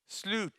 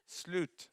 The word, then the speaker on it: slut: How do we pronounce it, Anne-Marie? Slut. Slut.